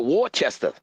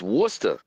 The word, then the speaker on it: Worcester: Now I just wanted to say that cuz I called it Warchester but it's not Warchester. It's Worcester.